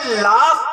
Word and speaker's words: laugh: اب ہم لوگ تو اردو کے حساب سے چلتے ہیں، تو اب ہم نے جب اس اسپیلنگ کو تلفظ کرنے کی کوشش کی تو ہم نے پڑھا لاو. ارے مولانا، پورے ہی مولانا ہیں آپ، انگریزی کچھ بھی نہیں جانتے. ارے یہ لاف پڑھا جائے گا.